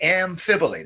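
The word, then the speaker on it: amphiboly: Amphibole. That's how you pronounce it.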